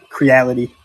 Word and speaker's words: Creality: It's like reality, but with a C in front of it. Right there. Creality.